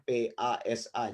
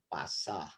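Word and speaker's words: πᾶσα: Ini kan gampang, ini kan P, terus ini alfa. Kemudian ini ada sigma, ini S. Nih, kalau begini S. Ini alfa A. Jadi kan bacanya PASA, jadi pasah. Gampang.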